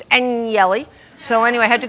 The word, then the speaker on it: Agnelli: It looks like Agnelli, but it's Agnelli.